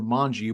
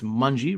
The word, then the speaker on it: Monge: looks like uh it looks like M or mangi but we talked beforehand it's munie rhymes with Bungie so there we go